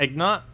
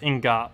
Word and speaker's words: ingot: Oh, why am I doing it with an N? Yeah, it's Ingot.